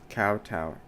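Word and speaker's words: kowtow: It is pronounced with the word cow plus toe. Oh, both parts. Cowtow. Cowtowing, not cotoing.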